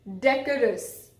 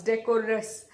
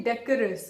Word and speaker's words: decorous: that so deco us we might intend to pronounce decoders but it is actually decorous you also can you